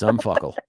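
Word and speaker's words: UMFCL: forensic crime lab ummfcl you can sound it out John it's unfuckle that's exactly how it's pronounced and and there is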